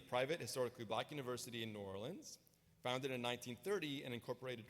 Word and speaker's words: New Orleans: New Orleans you know there's a lot of different defin ways to pronounce New Orleans but what I've discovered is folks here say New Orleans and I used to say New Orleans some of you say New Orleans but you'll upset locals if you say it